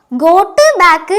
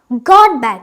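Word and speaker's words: got: എന്നാണ് നമ്മൾ എഴുതുക പക്ഷേ ഇത് പ്രൊനൗൺസ് ചെയ്യുമ്പോൾ ഗോട്ട് ബാക്ക് എന്നല്ല പറയുക ഗോഡ് ബാക്ക് ഇപ്പോൾ ദൈവം എന്നുള്ളതിന് നമ്മൾ എന്താണ് പറയുക ഗോഡ് അപ്പൊ ഗോഡ് എന്നുള്ളതിന്റെ ഉച്ചാരണമാണ് ഈ ഗോഡ് ബാക്കിന് വരുക അപ്പൊ എന്താണ് പറയാ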